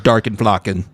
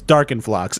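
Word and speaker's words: Darkenfloxx: If you're not going to be like, this is Darkenflocken. Okay. First of all, it's Darkenflox, and I knew you were going to bring up Darkenflox. So Darkenflox.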